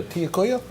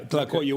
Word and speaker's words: tlacoyo: A tiacoya? Do I say it right? Yeah, tlacoyo, which is a corn masa stuffed with beans.